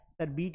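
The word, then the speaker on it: sherbet: सर शरबत को तो हम शेरबेट बोलते हैं शेरबेट नहीं होता है बेटा सरबिट होता है क्या होता है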